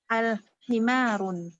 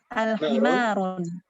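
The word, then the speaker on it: الحمار: Al-himarun. Hah? Lagi sekali lagi Om. Himarun. Al-himarun. Ini yang kedua apa bacanya Om? Himarun. Al-himaru. Al-himaru ya, al-himaru. Ketika ada al-nya maka tanwinnya hilang jadi al-himaru, tidak boleh run lagi tapi al-himaru.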